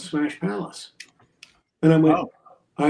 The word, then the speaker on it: Smash Palace: So, it's Smash Palace. The The emphasis is on the second word.